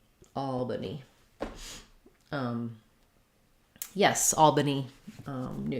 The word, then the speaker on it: Albany: first syllable stress just like the word all so that vowel is um the a vowel like in Saw um so you can rewrite it with aw if that helps you um and then the second letter a is going to be a vah Al Albany um yes Albany